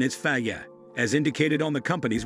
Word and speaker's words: Fage: Fage is commonly mispronounced as phage, which is wrong. Part of the problem is that this is a Greek company and English and Greek phonetics are different. That said, the correct pronunciation is Fa-yeh, as indicated on the company's website.